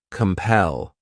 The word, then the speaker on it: compel: next verb is compel this word has two syllables and the stress is on that second syllable compel what it means is